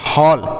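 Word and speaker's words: hall: जैसे एच से लिखेंगे ह, डबल एल से बच्चों ल लिखेंगे, और ए का उच्चारण अ मतलब ऐसे लिखेंगे, तो लिखा गया हॉल, एच A double L हॉल।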